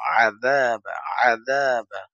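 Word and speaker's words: عَذَابَ: আন্না রব্বানা আন্না আমরা অনেকে বাংলাতে বলি আজাব জাহান্নাম তো বলি আজাব তো এখানে আমরা আইনটাকে ঠিকভাবে বলবো আদাবা আদাবা জাহান্নাম আদাবা জাহান্নাম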